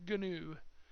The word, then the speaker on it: GNU: GNU compiler, I'm sorry. It's pronounced GNU. If you talk to any hardcore Unix, Linux people. I'm sure Richard Stallman would have a field day if I didn't pronounce it GNU.